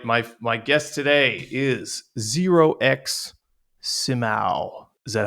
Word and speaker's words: 0xsimao: My my guest today is Zerox Simau.